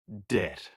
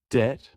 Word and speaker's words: debt: Word, debt. Wrong. Debt with the B. Correct? Debt. The B is silent.